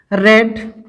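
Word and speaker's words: read: आप लिखेंगे you have रेड, spelling वही होती है, कहा जाता है रीड, रेड, रेड।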